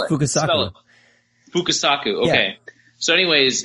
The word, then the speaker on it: Fukasaku: Fukasaka. I'm gonna fuck it all up if I even say it. Fukasakaku? I think it's how do you spell it? Fukasaku.